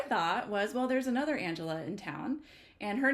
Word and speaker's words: Angelia: to pay it so my name remained Angelia um of course pronounced Angela and I would say